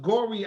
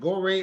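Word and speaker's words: Gorée: you say uh and i hope i'm pronouncing gory island go ray island yeah ray is the proper pronunciation first the french the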